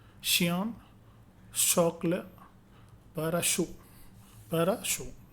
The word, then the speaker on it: chocolat: The French consonant blend, CH has the sound of SH like in English word machine, shin, machine. Okay. Santé, acheter, okay, acheter, chien, chocolat, parachute, parachute.